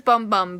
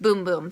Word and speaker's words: Bum Bum: I know it says bum bum but in Portuguese it's pronounced boom-boom so when I ordered